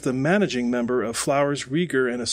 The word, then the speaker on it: Rieger: So, by the way, it's Rieger that is spelled R-I-E-G-E-R.